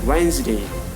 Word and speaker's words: Wednesday: here Wednesday this is the Wednesday not requested Wednesday catch pledged courage an example now we're going